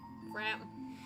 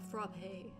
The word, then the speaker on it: frappe: I don't know what's I don't know what's right. It's frap because it rhymes with crap.